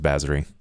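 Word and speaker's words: Bazory: Like Bathie. Like Elizabeth Baie. B A Z O R Y. Yeah. It's it's that one. It's Baserie.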